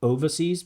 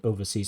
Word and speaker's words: overseas: So not overseas but overseas.